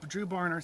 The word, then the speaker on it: Dru Barner: out one more time with it through Bonner drew barner thank you I keep mispronounce that drew barn or campground in the